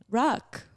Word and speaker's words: Ruckh: pronounced a lot yeah that h confuses people but like it doesn't like say it phonetically rock yeah that's how it's